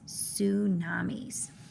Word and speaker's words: tsunamis: we are going to read the power of tsunamis yes it starts with a t but we don't pronounce that sound we go right to the s tsunamis the genre is scientific